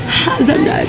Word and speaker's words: hazelnut: J'ai galéré à prononcer noisette parce qu'il fallait prononcer avec le H.